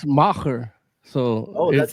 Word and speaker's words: Macher: It's called The Masked Matcher. Yeah. The Masked Matcher. Asterix, It's Yiddish for big shot. Yeah. Matcher is Yiddish for big shot. Yeah. Well, it's Macher.